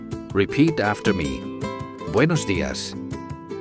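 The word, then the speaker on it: días: Buenos das. Don't forget to use the accent on the I. It is very easy to miss.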